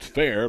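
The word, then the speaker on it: Fehr: Reed's last name is spelled F-E-H-R, but pronounced Fair, like County Fair.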